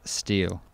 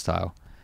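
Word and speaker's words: Styles: part of the Caravan was at the Ibis steel actually pronounced style uh hotel next to us dinner and they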